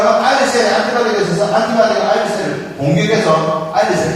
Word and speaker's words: islet: 세포성 아일릿. 스펠링은 아이슬릿이죠. ISLET 아이슬릿. 근데 S가 문금입니다. 아일릿. 베타 아일릿 세포가 가게 되어 인슐린이 생성되는 현상입니다.